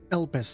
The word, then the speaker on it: Elpis: us yes the name is familiar to me elpis that's how you say it okay i know